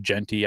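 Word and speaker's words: Jeanty: Genty. I said Gentry last Wednesday and somebody gave me in the chat box.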